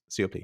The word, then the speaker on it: Siopy: As she says, the way you pronounce her last name is just you spell cop, which I always kept in my head. So Siopy.